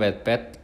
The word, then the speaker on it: Wattpad: Dan dia adalah praktisi Wattpad, ya, bacanya Wattpad.